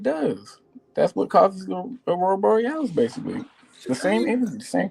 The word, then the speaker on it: Aurora Borealis: How you say it? Aurora Boris. Aurora Borealis. Yeah.